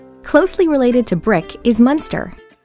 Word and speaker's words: Muenster: hot dog shaped truck note the difference in spelling and pronunciation french monster american munster aged up to eight